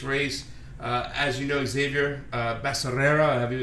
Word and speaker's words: Becerra: As you know, Xavier Becerra, however you say his name, is a big. You sure it's not Becerra? Becerra. Yeah, it's Becerra.